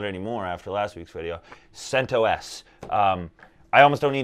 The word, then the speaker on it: CentOS: say the other ones because centos is the only way to say this no but i've heard santos santos cinto s no i'm just kidding um it doesn't matter though centos is the right way to say that i don't care what